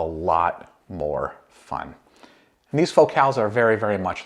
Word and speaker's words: Focal: So let's start with the build of these Focals, and yes, that is the correct pronunciation of what looks like the word focal.